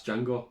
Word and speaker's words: Django: gentleman and he goes, "My name's Django," and he goes, "The D is silent," and the guy goes, "I know, that's Django, that's Franco Nero, that's the original Django."